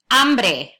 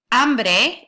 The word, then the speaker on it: hambre: Now be careful with the pronunciation of this one, right? Because you've got an ah there. That's just a slight difference from the word hombre, which means man. So hambre versus hombre, right?